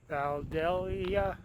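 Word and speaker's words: Vandalia: We're just a little bit east of Valdelia now. That's how you pronounce it.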